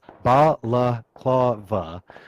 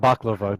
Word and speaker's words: Balaklava: have to correct myself it's Balaklava not baklava because baklava is the delicious it's a super tasty thing so I'm sorry I'm